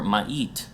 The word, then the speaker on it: Ma'i: In past times, it has been called Ma'i or Ma'it, actually pronounced Ma'i still, according to many of the Chinese records, by Han Chinese traders.